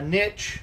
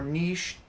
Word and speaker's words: niche: So first and foremost, a niche or niche, I've heard it pronounced both ways. I don't care one way or the other. I use niche.